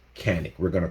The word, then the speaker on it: Canik: pronounced it's actually pronounced yannick you know my ex-wife is turkish so i mean you know she says it's actually pronounced yannick even though we're here